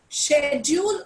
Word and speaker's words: schedule: Schedule or schedule both are correct.